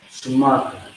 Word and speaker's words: Shamarka: You got the Sha, and you got the Ma and the Ra together. That's going to be Ma. The A is going to drop off from the Ra. Alright? And you have the Ka, which is K-A. Alright? Shamarka. Now, Shamarka is actually up here, once again.